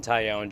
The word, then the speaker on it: Taillon: and we have new Cubs starting pitcher Jameson taione joining us Jameson how's it going today good that was a great pronunciation um I'm just enjoying my first spring